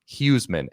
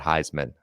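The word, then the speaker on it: Huesman: unknown by the way huseman h-u-e-s-m-a-n you gotta pronounce that heisman i mean oh yeah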